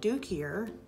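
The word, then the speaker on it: duiker: that one sounds funny, yellow-backed duikier, not spelled like you're thinking, waterbuck, Grant's zebra, black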